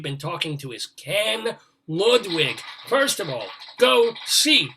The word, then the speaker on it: Ludwig: Ludwig, I pronounce it Ludwig for what it's worth.